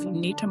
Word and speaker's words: Unita: Well, first, I want to commend you on pronouncing Unita correctly. That's not something that happens very often. And I tell people they can remember how to say it by, you need a marketing partner.